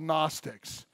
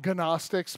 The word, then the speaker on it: Gnostics: John's day they're called Gnostics I like to call them ganache sticks but the G is silent but they're Gnostic so